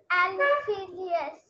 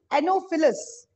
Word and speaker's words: Anopheles: एनोफिलियस mosquito. Sorry मेरे साथ बोलो. एनोफिलस. एनोफिलस. एनोफिलस. एनोफिलस. Very good.